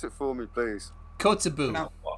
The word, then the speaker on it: Kotzebue: Pronounce it for me, please. Kotzebue. Kotzebue.